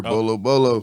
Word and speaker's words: Bo Lo: This is Shots Fired Podcast, and today's guest is Bolo. What up with it? What's happening? What's happening? Now, look, I do everybody's saying. I always ask, am I pronouncing it right? Yes, sir. Bolo.